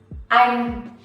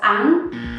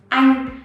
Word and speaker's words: Anh: The way foreigners pronounce this one, they usually mispronounce it as anh. So the proper way is anh. You have to stretch your mouth to the side of it.